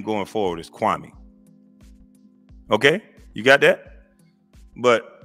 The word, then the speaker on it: Kwame: So I want to go on record to say, Stephen A., how my name is pronounced, you say it like this, Kwame.